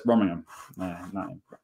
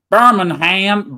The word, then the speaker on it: Birmingham: Same way, because we went to Alabama and found a place called Birmingham with an H. Oh, yes, yes, Birmingham. Birmingham, Birmingham. That's how they say it.